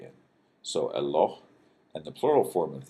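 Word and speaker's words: אלוה: Now notice you've got El, and then this is kind of a long O sound, and then H at the end. So Eloh, and the plural form of this is Elohim.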